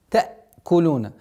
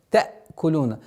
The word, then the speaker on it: تأكلون: При произношении звука хамзы с сукуном тәкулуна. Не надо на гортанный звук и давить та, чтобы звук айн, тәкулун. Нет, тәкулуна. Нежно, легко произносится. Ватәкулуна.